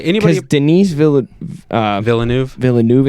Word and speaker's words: Villeneuve: Villeneuve is how you say the last name.